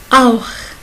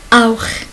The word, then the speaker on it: auch: Si CH est venu après A, O ou AO, il se prononce comme auch, auch, auch, auch, c'est aussi.